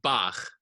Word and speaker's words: Bach: an example is because a lot of Americans tend to make it stronger, the H sound, because that's how they think it's pronounced in German.